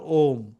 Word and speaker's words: ওম: মধ্যে সবথেকে ছোট্ট হচ্ছে নাম যদি বলতে চাও ওম ওম শব্দ দ্বারা যেন সে ঈশ্বর বা সর্বশক্তিমানকে আমরা তাকে প্রার্থনা করছি এবং ওম উচ্চারণকে বলা হয় আমাদের শাস্ত্রের সবথেকে পবিত্র উচ্চারণ